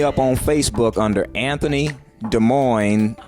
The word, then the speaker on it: Damoine: on Facebook under Anthony Des Moines pronounced like Des Moines Iowa Anthony Des Moines Bush